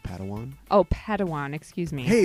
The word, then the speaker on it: padawan: master yoda assigned a pad one to this bold jedi it's pronounced padawan oh padawan excuse me